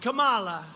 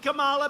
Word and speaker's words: Kamala: booker and you had kamala you know if you pronounce her name wrong she goes crazy come on like a comma it's like a comma